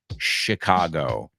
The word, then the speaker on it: Chicago: it in English, it's Chicago. Lake Michigan is in Chicago. I know you say Michigan and Chicago, but remember, in English, both of those are shh, shh.